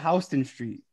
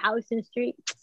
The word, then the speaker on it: Houston Street: It looks like Houston, but it's pronounced Houston. That's how the train says it.